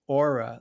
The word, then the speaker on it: Aura: Her name is Aura, like as in having an aura, you know. And that's her name. You spell it the same way, Aura.